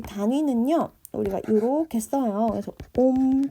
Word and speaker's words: 옴: 그래서 옴 또는 오메가 이렇게 얘기하는데 옴이라고 읽습니다.